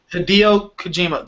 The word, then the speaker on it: Hideo Kojima: Now I'm going to try to pronounce this guy's name one more time. Hideo Kojima revealed his new... Hideo Kojima.